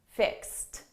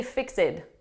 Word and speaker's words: fixed: you get your car all fixed up fixed fixed so notice we have fixed with the past tense it's an e d verb please do not say fix it fix it no this is a very common